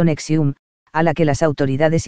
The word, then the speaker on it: NXIVM: estadounidenses por su relación con psib pronunciado nexium a la que las